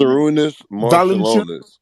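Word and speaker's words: Šarūnas Marčiulionis: How do you pronounce his Sarunas Marciulionis.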